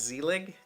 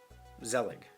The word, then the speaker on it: Zelig: Zelig. Z-E-L-I-G. I think I said zelig. I don't know. It's zelig, I think. Just with an emphasis.